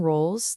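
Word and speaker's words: Rowles: Again, that name is Adrien Rolls. That's spelled R O WL E S.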